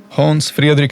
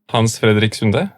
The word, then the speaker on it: Hans Fredrik: bit more bit more melody in general. That's the difference between Swedish and Norwegian. It's mainly melody.